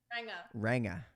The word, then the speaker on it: Ranga: I learned that I am a Ranga. Ranga. Not a hard G.